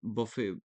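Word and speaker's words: buffet: उसको क्या बोलते हैं बफे बफे बोलते हैं ना तो उसका जो स्पेलिंग है वो अलग अलग है लेकिन सो स्पेलिंग क्या है? बी U double F ई टी बफेट pronunciation बफे है लेकिन स्पेलिंग क्या है?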